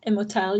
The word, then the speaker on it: Immortelle: Brennan, you want to steer us into, I might butcher the title, Immortelle? Did I say that right? Yeah, Immortelle, yeah.